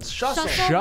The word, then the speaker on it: Schlussel: Shussle like Shussle. hustle or muscle.